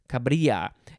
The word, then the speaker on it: cabrilla: Next, we have cabrilla, cabrilla, C-A-B-R-I-L-L-A, similar to caballero with the double L. It's a yuh sound, cabrilla, noun from circa 1839.